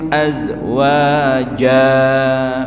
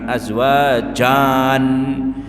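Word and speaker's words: أزواجا: mihada Dua rakat aada wqnakum azwaja bukan azwajan bukan Jan tapi ja nah ini penting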